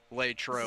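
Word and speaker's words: Latrobe: Yeah, I was going to say notice how she pronounced it, too, which is the correct way. Lay trobe.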